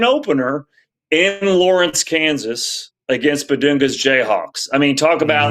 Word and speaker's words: Bidunga: I think it is Bedunga. It's just it's it's yes, it's Bedunga. I felt like I felt like it's a BBN joke.